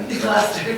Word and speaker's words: Gloucester: Gloucester, thank you.